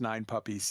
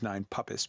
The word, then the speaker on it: Nine Puppis: in chat kai mispronounced nine puppies yes yes yes i do call it quite often the nine puppies system even though its name is nine puppets p-u-p-p-i-s um the requin squad